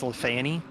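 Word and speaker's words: Les Fagnes: No, that looked like that was in I believe the French way to say it is Lafani, but it's spelled Lafang.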